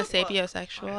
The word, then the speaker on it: sapiosexual: I'm a sapiosexual, and I love it. I'm here for it. I pronounced it wrong. One more time for us. Sapiosexual.